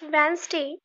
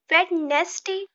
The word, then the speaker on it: Wednesday: Hey guys, are you pronounce these words correctly? Come, let's find out. It's Wednesday, not Wednesday.